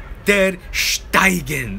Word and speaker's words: ter Stegen: Der Stegen. Der Steigen, as it's called in Deutschland. Okay, they pronounce it Der Steigen. Okay, that's how it's pronounced.